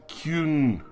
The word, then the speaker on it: Kyun: It's actually Kyun. There's no T on it.